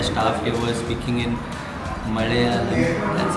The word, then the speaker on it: Malayalam: Even the staff here was speaking in Malayalam. That's how it's supposed to be pronounced.